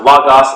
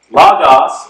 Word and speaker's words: logos: They're pronounced logos, ethos, and pathos. Logos, or logos, is a reference to logic.